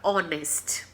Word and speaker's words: honest: Quando a letra H, né, obedece à pronúncia da vogal. Então, por exemplo, a palavra honest se escreve com H.